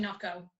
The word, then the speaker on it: NOCCO: You're saying how the Irish say it, but it's actually Nocco.